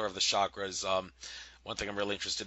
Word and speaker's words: chakra: Okay, let's first learn how to pronounce the word chakra. Okay, it's pronounced chakra, just like Chuck E. Cheese's pizza.